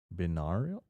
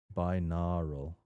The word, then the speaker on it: binaural: Non-existent C for the continuation of the free space by not binarial. I don't even know how to pronounce that.